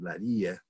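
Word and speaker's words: اللاذقية: and you locate the town of Lattakia, which is pronounced in Arabic, Ladhiqiyya, that is the kind of the largest city in the what's called the Alawi heartland.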